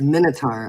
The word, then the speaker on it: Minotaur: It's Minotaur. I What's didn't the- know how to say it.